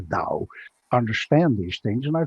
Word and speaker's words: Tao: artists or or taoist tower spell tao we pronounce the dao understand these things and